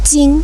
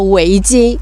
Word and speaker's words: 围巾: the next 这个我们说围巾 zhis is 'weijin' 围巾是怎么样用的呢 how to we use scarf 围围巾 'wei'